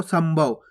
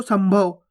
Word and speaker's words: संभव: अभी आपको बताया आपको, अगर पा होएगा, फा होएगा, बा होएगा, भा होएगा तो आधा माँ का उच्चारण करेंगे। देखो ये रहा भा, ये देखो सा के ऊपर अनुस्वार की मात्रा, उसके बाद क्या है भा, तो अपन यहाँ पे आधा माँ का उच्चारण कर देंगे इस प्रकार से संभव।